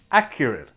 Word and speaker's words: accurate: And it should sound like this. I don't think the report is accurate. I don't think the report is accurate. Accurate. So it has an it sound.